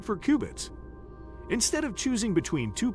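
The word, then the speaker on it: qubit: Say it like cubits.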